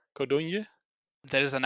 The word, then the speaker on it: Codogno: It's Codogno. Codogno.